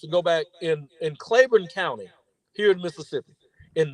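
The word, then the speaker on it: Claiborne: Miss yes 1966 in clayon County Mississippi it was and spell it c l a i b o r n e clayon it is huge man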